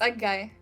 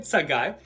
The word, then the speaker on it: Tsegaye: who knows how to say it yes it's a guy what's that guy okay so we have miriam sangai who um did a khan academy um contest